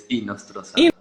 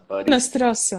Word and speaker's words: Hinostroza: Pronounce the H at the beginning, so it's Hinostroza. Hinostroza.